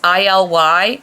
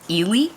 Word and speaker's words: ILY: have the the Disney we all thought it was ILY like I love you but the brand reps pronounce it Ely no idea why anyway